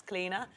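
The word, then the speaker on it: Clíodhna: it's actually my middle name as well it's cleaner we got what your middle name is cleaner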